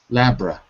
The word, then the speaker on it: laboratory: It looks like laboratory, but we don't say it like that. We say laboratory. Labra. Laboratory.